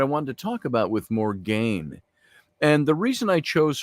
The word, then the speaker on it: Morgaine: And when you think of Morgan Le Fay, or Morgaine in her book, Morgaine is the Welsh pronunciation for Morgan.